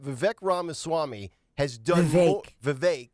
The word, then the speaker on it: Vivek: Vivek. Rhymes with cake.